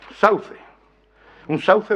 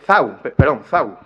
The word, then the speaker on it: sau: Bueno, zau, con pronunciación ceseante, zau, termino ya. Este es el último. Variante dialectal no estándar, sau, que alterna con ese inicial, sau, y con la articulación ceseante, sau.